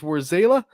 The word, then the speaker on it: Warzela: So Warzala or Warzala, which one is it? Because I've heard it pronounced both. Warzela. Where's Zayla? Okay, see, that's live on the show. You heard it here. It is Warzela, and we are going